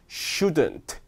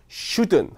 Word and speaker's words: shouldn't: shouldn't, shouldn't, shouldn't. 트 발음 외국 애들 잘 말하지 않는다고 했죠? 그러니까 shouldn't 하면 됩니다.